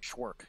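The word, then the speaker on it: Cvrk: it was it was c v r k pronounce that for me okay schwerk yeah schwerk gosh i gotcha that's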